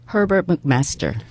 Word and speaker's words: Herbert McMaster: 미국 정가에 예를 들면은 지금 허버트 맥메스터 이 발음 좀 해주세요. Herbert McMaster.